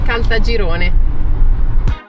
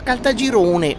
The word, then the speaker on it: Caltagirone: Allora, Calta Girone, ragazzi, che però detta così, anche quando prima l'ha detto Anghela, stiamo andando a Caltagirone, no, non sta bene, secondo me. Bisogna comunque pronunciarlo bene. Siamo a Caltagirone. Ah, questo mi suona molto meglio.